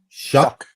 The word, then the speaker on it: Shough: and it's uh Tyler show from uh Louisville shuck shuck that's how you pronounce it wow okay yeah um you know